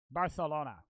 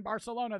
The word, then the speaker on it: Barcelona: I know in most Spanish countries, a C is just a C, right? But in it's Barcelona. Barcelona. Like the C is a TH, right?